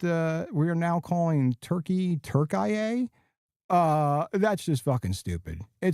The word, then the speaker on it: Turkey: I go on vacation for two weeks and somehow uh we are now uh pronouncing the country Turkey as Turk. The are we doing? It's Turkey.